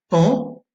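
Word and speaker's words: paon: Vous avez aussi une graphie un peu plus exceptionnelle, c'est AON. Vous l'avez dans trois mots, fan, c'est Bambi, le petit animal, pan, le bel oiseau avec une queue multicolore, et tan, qui est une mouche qui pique et qui fait assez mal.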